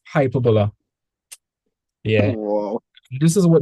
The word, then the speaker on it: hyperbola: That sounds like that sounds like the word in English. That's uh what's it? Hyperboly. That's when like you're exaggerating. Yeah, it does sound like a hyperbole, but it's hyperbola.